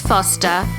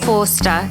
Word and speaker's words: Forster: Yes, it is Forster, not Forster, even though it's spelt that way.